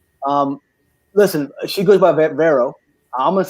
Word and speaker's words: Vero: yes my name is vero if you can roll your r's or vero if you cannot i am a linguist